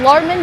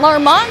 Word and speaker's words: Larmond: The last name is pronounced Larmond and not Larmont, so I will attempt